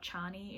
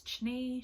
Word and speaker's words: Chni: It's not Chani, it's Chni. She says that you pronounce it ni, but just with a CH, so Chni.